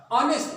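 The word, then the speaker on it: honest: ऑनेस्ट, उसी तरह से एक बार फिर आ की आवाज है, एच साइलेंट है, एन आया।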